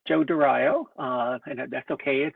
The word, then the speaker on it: Dario: I hope I'm pronouncing your last name correctly, Joe. It's Joe Dario, and that's okay.